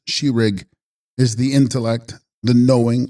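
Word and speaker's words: ཤེས་རིག: Text, Shesrig, pronounced Shirig, is the intellect, the knowing or cognizing faculty.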